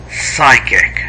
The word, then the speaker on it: psychic: the strongest psychic connection this is pronounced as psychic nopee psychic connection you communicate using the